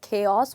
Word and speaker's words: chaos: you can see that i have written a part of the word in bold letters which is k the reason i have